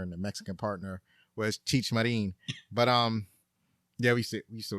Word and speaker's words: Cheech Marin: We always called him Cheech Marin, but his name is actually pronounced Cheech Marin. So Cheech Marin, he played Short Bartender.